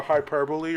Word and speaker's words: hyperbole: Like a hyperbole or something like that? Overexaggerated statement. Yeah, overexagger. Wait, is that how you say it in English? Yes, hyperbole. Hyperbole. Okay, I was pronouncing it wrong.